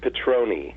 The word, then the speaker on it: Petrone: The last name is Petroni. Petroni. Is it A lot of Italian? people think it's like the tequila. Yeah. That's what I thought immediately. Petroni, that sounds Italian.